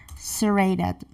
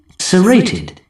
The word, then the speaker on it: serrated: Serrated. So serrated as an adjective is coming in UK form. Serrated. Serrated. So yeah, they are pronouncing T exactly like T.